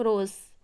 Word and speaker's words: rose: जो रोज़ है ये वर्ड ग्रीक वर्ड से लिया गया है, इरोस, जिसको आप प्रोनाउंस करते हैं हम लोग रोज़, जिसमें ई साइलेंट है।